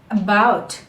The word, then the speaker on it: about: A very profound example is about. A-B-O-U-T. So we are not taking that long sound of A here.